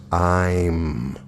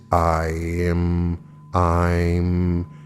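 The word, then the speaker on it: ऐं: mantra of significance is e i am pronounced i'm the correct intonation is i am i'm the key benefit of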